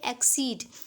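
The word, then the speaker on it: accede: जैसे कि यहाँ पे एक्सीड और इसकी स्पेलिंग है ACEEDE, एक्सीड मीन्स सहमत होना, और दूसरी स्पेलिंग है EXCEED, एक्सीड। तो दोनों की स्पेलिंग चेंज है, मीनिंग चेंज है, पर प्रोनाउंसिएशन सेम है।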